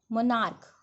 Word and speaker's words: monarch: After that, say stomach, stomachs, monarch, monarchs. ठीक है, when the ending ch is pronounced as k, then only s is added to make plural.